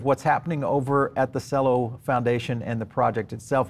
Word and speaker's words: Celo: a little bit deeper on a project called cello kind of pronounced with the t and the c together